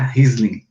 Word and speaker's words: Riesling: Essa já é de origem francesa, e aí o nome muda um pouquinho. Percebam que é Chardonnay, Sauvignon Blanc, a gente muda para Riesling, uma pronúncia alemã, tá?